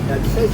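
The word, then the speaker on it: Decius: Desires is a thrash band.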